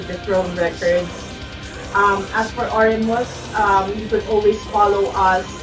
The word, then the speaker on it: Oremuz: As for Oremus, you could always follow us in Facebook and in Instagram.